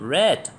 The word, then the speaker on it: read: met put put read there is something interesting about the verb read the same is spelling but with different pronunciation red Ron ran say set